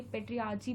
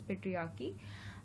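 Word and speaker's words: patriarchy: तो देखिए, पेट्रियार्ची भी बहुत लोग उसको प्रोनाउंस करते हैं, बट the correct pronunciation is पेट्रियार्की।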